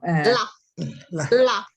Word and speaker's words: laugh: Yeah, the pronunciation, you pronounce the GH like an F.